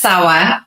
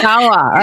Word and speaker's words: Sawa: How do you say it? It's Sawa. Oh, Sawa. Okay. Sawa.